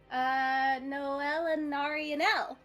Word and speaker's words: Nólelinaraniel: Nólelinaraniel.